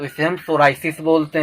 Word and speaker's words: psoriasis: Next है सोराइसिस, P silent है, PSORIASIS, सोराइसिस ये स्किन डिजीज।